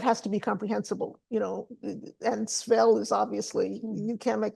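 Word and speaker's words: svell: So I italicized it and spelled it as S-V-E-L-L, Svel, because that's what they would have heard. That's how they would have pronounced it.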